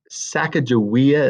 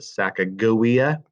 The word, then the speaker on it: Sacagawea: bought her and yeah but her name was sacagawea is how it's commonly pronounced they actually pronounce it sacagawea and um she was a translator she could